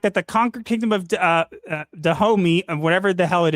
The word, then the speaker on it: Dahomey: And apparently that kingdom is pronounced Dahomey. Dahomey.